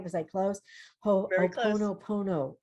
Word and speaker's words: Ho'oponopono: Ho'oponopono. Ho'oponopono. Yes. Oh, okay. I think the Hawaiians say ho'oponopono, like they emphasize the second O. Ho'oponopono. Oh, that's almost easier. Is it? Ho'oponopono, pono.